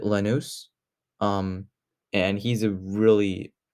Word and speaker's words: Lanús: He obviously is going back to Argentina to play for Lanús. I think that's how you pronounce it, Lanús.